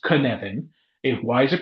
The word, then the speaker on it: Cynefin: way, it is pronounced Cynefin. Why is it pronounced Cynefin? Because it's Welsh. And that's all you need to know about why it's Cynefin. It is Cynefin.